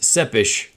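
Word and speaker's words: Țepeș: fact that Adrian tepe's last name is actually pronounced seppish according to the YouTubes and it translates to Impaler in Romanian a reference to count Vlad dracul also known as Vlad sepesh or Vlad the Impaler Bram Stoker Drew inspiration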